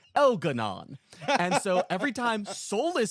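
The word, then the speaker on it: Elgar'nan: Elgarnan specifically is spelled as Elgaran, right? But every single person that says his name, it almost across the game is an elf that speaks with a lightly British accent. So they all pronounce it Elanon.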